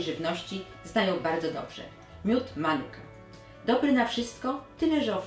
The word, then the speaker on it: Manuka: miód Manuka Aha i zwróćcie uwagę na właściwy Akcent nie Manuka tylko Manuka No tak to się właśnie naprawdę tutaj wymawiam No więc taki miód